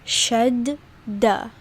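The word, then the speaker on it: شدة: Shadda, right? So you pronounce it like it's two words. Instead of saying shadda, it's shadda. There's two das in there, right?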